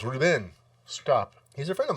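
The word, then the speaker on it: Reubens: that's excuse me paul reuben yeah well it's pronounced ruben stop he's a friend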